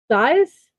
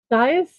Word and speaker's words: Zeiss: Let's make sure I pronounce his name correctly. Zeiss, Zeiss, a German scientific instrument maker, optician, and a businessman.